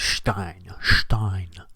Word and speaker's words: Stein: so stein the i the second if it's i e or e i the second letter is the one that's enunciated so with it's german so it's stein n one five two